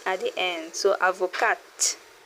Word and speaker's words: avocat: is actually the same name we use for avocado in French too. Avoca, a lawyer or barister. If it's a female, you add e at the end. So, avocat pronounce it.